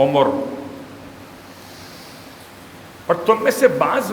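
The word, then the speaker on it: عُمُر: ہے۔ ارذل العمر، کیونکہ ہمارے اردو کا تلفظ عمر ہے، اور یہاں استعمال ہوا عمر، عین پر بھی پیش ہے اور میم پر بھی پیش ہے، عمر۔ اور تم میں سے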